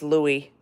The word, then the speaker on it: LOOI: centuries ago it's l oi and it is pronounced Louie that's how they have it pronounced someone's asking